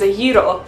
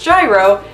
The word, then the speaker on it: gyro: is Greek my favorite food is a heat'll which Americans pronounce gyro and every time someone says gyro I die inside true story I had